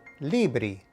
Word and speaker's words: libri: You would pronounce this word libri, which means books.